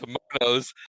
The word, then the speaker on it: Manos: the master and Torgo argue about the pronunciation of Manos or Manos. Yes, that part was very funny. And then he insists that it's Manos, and then all the wives start saying Manos.